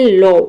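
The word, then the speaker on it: law: जैसे कि देखिए यहाँ पे एग्जांपल है लॉ, इसमें आप देख रहे हैं कि ए डब्ल्यू एक साथ आ रहा है, तो यहाँ पे एल का हो जाएगा लॉ और ए डब्ल्यू का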